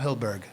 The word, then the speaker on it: Hyldburgh: So for those that does not know, by the way, Hyldburgh.